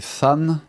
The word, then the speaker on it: Than: Sachant que dans la version originale, la rivière s'appelle Tan, qu'il faudrait sans le plus plutôt prononcer Fan, ce qui permet de faire la rime avec Man, on est en train